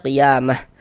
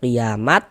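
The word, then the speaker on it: قيامة: Qiamah ini kita baca qiamah. Jangan dibaca qiamat, jangan juga dibaca qiamati. Jangan.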